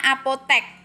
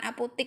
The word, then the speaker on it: apotek: Contohnya apotek. Apotek itu tuh penulisannya pakai E, bukan pakai I, bukan apotik ya, apotek.